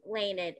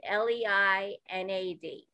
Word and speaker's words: Leinad: So I say Leinad, Leinad.